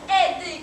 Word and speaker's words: aider: C'est le verbe aider qu'on écrit A-I, mais qu'on prononce I.